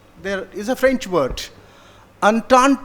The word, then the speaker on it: entente: Entente is pronounced entente, whatever it is.